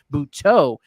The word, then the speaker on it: Butto: And yes, now it really is Butto. That's what they were saying as Gary was announcing it. I was shocked when I heard it at first, but that's the correct pronunciation, Butto.